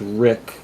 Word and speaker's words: Riku: that's a character named Riku that, he's something, It's somewhere. it's actually pronounced Rick. It's a mistranslation because the Japanese pronunciation of Rick is Riku.